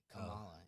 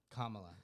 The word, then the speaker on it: Kamala: the uh Cala Harris Kamala is it Kamala Kamala Kamala okay it's just three syllables it's why can't people get that right okay this question is